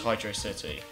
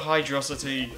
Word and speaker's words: Hydrocity: city music track unlocked it separates the hydro and the city so it's belt out as hydrocity yeah and that's my reasoning like I'm I really drink her the way you pronounce it but that's the right way gosh dang it and it will stay that way yeah if you wanna call it hide rocity more power to you but you're just wrong I'm sir yeah I'm